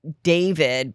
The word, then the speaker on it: D4vid: There is a rapper named David, but it's spelled D, the numeral 4, VID.